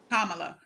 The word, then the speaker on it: Kamala: uh Kamala not Kamala Kamala like a comma like a Comm La commala okay so um it's time